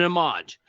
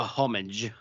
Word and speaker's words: homage: It's kind of a culmination in a way, an homage, or a homage, as the Brits say.